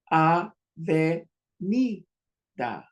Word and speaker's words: avenida: Now, when we add the positions to say these sounds, A, ve, ni, da. Sometimes the D is pronounced like a TH.